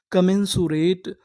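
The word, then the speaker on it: commensurate: का मेनुरेट कमेंसुरेट कमेंसुरेट कमेंसुरेट का मतलब होता है अनुरूप क्या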